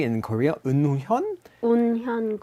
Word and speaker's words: 운현궁: 운현궁. Unhyungung.